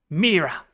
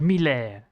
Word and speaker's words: Mira: That means that you need to pronounce this long vowel instead of short. Instead of Mira. No, it's Mira. Not Miller. Not Miller.